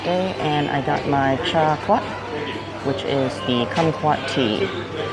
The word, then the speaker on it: trà quất: And if you're wondering and you're Vietnamese from the US, the northern accent is different and some things are pronounced different. So it's chai kwat here.